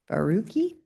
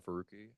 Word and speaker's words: Farooqi: Next, we have signed up is Barooi. Did I say that correctly? Well, hi. Uh, thank you all so much for, uh, the opportunity to testify. My name is Farooqi.